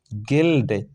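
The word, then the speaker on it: guild: चुपचाप ठीक है यू के आगे क्या है आई है ये भी वॉवेल साउंड है ठीक है तो यहां यू चुप साइलेंट ठीक गिल्ड जी यू आई एल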